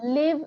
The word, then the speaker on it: live: live is like a short I and leave is a long.